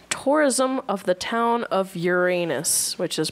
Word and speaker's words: Uranus: of the town of Uranus, which is pronounced the way Uranus. a self-respecting class clown would say it.